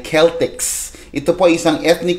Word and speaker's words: Celtics: Yang Celtics po hindi po yan team sa NBA. Okay. Actually po ang ah karaniwang pronunciation talaga diyan ay Keltics.